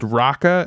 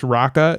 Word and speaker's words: Raqqa: Tell them how to spell it because it's not how it sounds. Uh it's spelled Ra A.